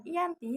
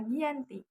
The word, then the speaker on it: Giyanti: Giyanti dalam pelafalan Belanda disebut dengan Ianti, sedangkan secara tertulis terbaca Giyanti.